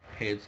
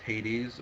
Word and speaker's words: Hades: Hades can be pronounced Hades or Hades. There is no official pronunciation for that.